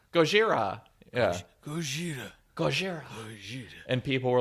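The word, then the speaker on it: ゴジラ: because they thought with people in Asia said Gojira they were saying they were mispronouncing the elves which isn't true the name of Godzilla originally was gods era in the original movies hmm but Zilla make sense Gojira Gojira yeah sure and people were like Godzilla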